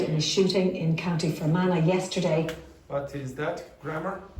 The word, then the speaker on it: Fermanagh: Okay, so the pronunciation is what? Banana. No, Fermanagh. Fermanagh. Yes, exactly. Died in a shooting in County Fermanagh yesterday.